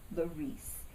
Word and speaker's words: Larice: friends and fo alike as Larice Accent on the E please as a child I